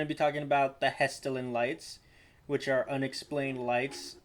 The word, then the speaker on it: Hessdalen: to talk about the hisa dylan light i think i'm pronouncing that right i might not i'm sorry i think it's pronounced hesterlin yeah so yeah we're going to be talking about the hesterlin lights which are unexplained